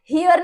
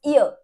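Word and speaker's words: heir: एंड हियर नहीं बोलते, इट्स ईयर, ठीक है, तो एच इज साइलेंट हियर।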